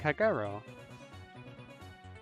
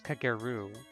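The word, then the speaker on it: Kagerou: pronounced Moko actually I have to get it into my head that the OU in these character names is supposed to be pronounced like an o like kagero which is why because I used to think it was kageru which is why kage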